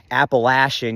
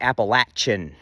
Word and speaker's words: Appalachia: like to me Appalachian you're still getting that sh sound in there but usually in that region it's pronounced with the hard CH appalachin you know you pronounce it Appalachia I'll throw an Apple at you a full disclaimer I